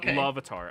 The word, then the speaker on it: Lavatar: No, you said it right. I said it wrong. It's Lavatar. I I did Levander, which is a different god.